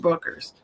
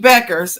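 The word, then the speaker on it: Bueckers: and then Dallas Paige Buckers. Paige Buck Buers, I'm sorry, Buckers. Paige Beckers. I said it wrong three times.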